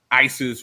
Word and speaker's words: Isis: The Egyptian pronunciation of the name of this goddess was something like Waset or Osset. No resemblance to is or yees. Here's how Isis is spelled in hieroglyphics.